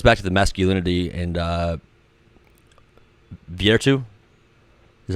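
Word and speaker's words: virtù: There are things that are human nature that goes back to the masculinity and virtu.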